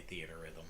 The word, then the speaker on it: Theatrhythm: I think you would just say Theater Rhythm. Theater Rhythm. They just spell it weird because Theater Rhythm marketing.